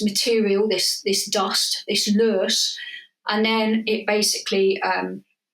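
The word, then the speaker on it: loess: is material that is called L which is spelled really weird it's l o s anyway so the idea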